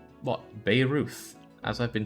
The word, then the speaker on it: Beirut: It's pronounced like Babe Ruth. What? Beirut?